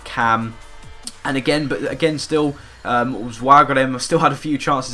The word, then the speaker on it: Waregem: But as soon as we did go 1-0 up, Waregem, that's how you pronounce it, they had a couple of good chances here.